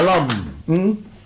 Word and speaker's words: lamb: A lamb. I think the B is silent, you understand?